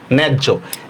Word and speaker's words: ন্যায্য: ন জফলা আকার, জয় হসন্ত, জয় ওকার, ন্যায্য। এখানে কেন জ 2টা আনছি মনে আছে? অন্তস্থীয় জ থাকলে কি হবে আমাদের? বর্গীয় জ হবে, মনে আছে?